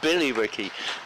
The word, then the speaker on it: Billerica: He says there is a Billericay in Massachusetts, but he says, albeit it's spelt with a Y and pronounced accordingly, which I assume he means it's Billy Ricky.